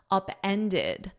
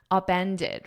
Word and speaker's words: upended: I have it in the past simple upended because it's in an Ed. You need that ID at the end upended.